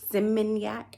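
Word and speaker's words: Seminyak: we were in simac simoniac I may be saying it wrong but it's s e m i n y a k that's how you say it um it's kind of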